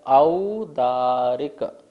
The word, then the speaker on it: औदारिक: देखिए यहाँ पर क्या लिखा है, औदारिक। औ बोलना है, औदारिक नहीं बोलना है, औ बोलना है, ओ नहीं है, औ है।